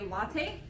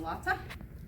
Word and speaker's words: latae: then you end with the tensor fasciae latae or latte it's how a lot of people say so that you get